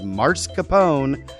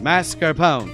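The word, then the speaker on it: mascarpone: If your waiter tells you that they use Mars Capone, well, there is no such thing. He's trying to impress you for tips. The correct pronunciation is mascarone.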